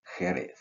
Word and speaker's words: Jerez: So the English name Sherry is the, let's say, not perfectly pronounced Spanish Jerez.